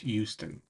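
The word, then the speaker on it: Euston: It's written Houston, but it's pronounced Houston over there.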